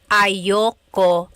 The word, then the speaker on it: ayoko: Usually it's pronounced ayoko siya. So if you want to sound a little bit more natural, you put everything together, ayoko siya. Ayaw ko siya is ayoko siya.